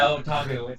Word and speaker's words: Otaku: Yeah, did I mispronounce the name? Is it Otaku? Yeah, Otaku.